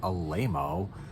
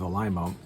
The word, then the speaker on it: Alaimo: want to say alaimo it seems so wrong to say alaimo but that's how they pronounced it it's an italian name